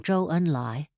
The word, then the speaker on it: Zhou Enlai: ZH, as in Zhou Enlai, is pronounced like a J, but with the tongue curled almost to the roof of the mouth, and Z, as in Zun Yi, is like the DS in ads.